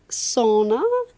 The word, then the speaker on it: sauna: If you think I'm saying that funny, listener, it's not pronounced sauna anywhere except America. Okay. Everywhere else, they pronounce all of the letters in the word S-A-U, sao, N-A.